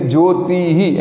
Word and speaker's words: ज्योतिः: स्वयं ज्योतिः एटले के तो अहींया ज्योतिः एनुं उच्चारण छे आ रीते थशे, तो विसर्ग छे आ।